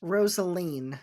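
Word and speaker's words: Rosaleen: character of is it rosalene Rosaline how was it pronounced rosalene so like Rosalie but with an in like Jolene you messed up my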